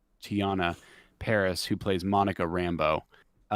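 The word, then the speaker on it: Teyonah Parris: to butcher her name i believe it's you pronounce it tian tiana paris who plays monica rambo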